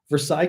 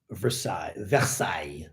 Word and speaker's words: Versailles: Anyway, Versailles. As Gunther knows, we do the Y in French at the end, especially if you're Parisian, I would guess. A little more of a pronounced.